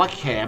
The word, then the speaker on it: แขม: เดียว กัน ทำ ไร อ่าน ว่า แขม มอ ม้า เป็น ตัว สะกด แม่ กลม แขม เป็น ชื่อ ไม้